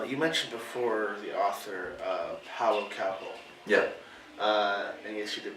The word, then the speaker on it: Paulo Coelho: Now, you mentioned before the author, Paulo Coelho. Yeah. And yes, you did pronounce his name right.